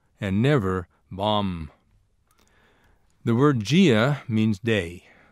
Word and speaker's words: bom: means good, and that in pronouncing it, you do not close your lips on the final M. This is true for all words in Portuguese that end in M. The final M in Portuguese serves to nasalize the preceding vowel.